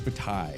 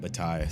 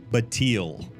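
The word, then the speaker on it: Bataille: So yeah, everything is kind of uh circling around George's Batil as uh as some electronic uh artificial intelligence e-readers will pronounce George Batai's name. They will say George's Batil.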